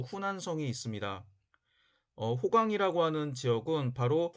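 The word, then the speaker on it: 湖南省: 지금은 동정호, 즉 뚱띵호 북쪽에는 호북성, 중국어 발음으로 후베이성이 있고, 남쪽에도 호남성, 중국어 발음으로 후난성이 있습니다.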